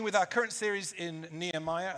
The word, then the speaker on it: Nehemiah: our current series in Nehemiah, and that is the correct way to pronounce it. I would say so. I'd say it was Nehemiah, but you feel free to pronounce it differently and be wrong.